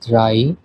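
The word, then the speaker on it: drei: 3 কে বলা হয় ড্রাই।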